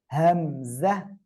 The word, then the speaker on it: হামজা: তারপরে এই অক্ষরটা এখন উচ্চারণ করব, হামজা। হামজা, কোনো টান হবে না, একসাথে বলেন তো।